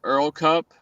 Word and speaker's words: ERRL Cup: It's called Earl Cup. If you're not familiar with it, it's but it's spelled ERRL Cup, right?